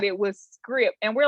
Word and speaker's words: Scribd: So yeah, the way that you pronounce it is actually script.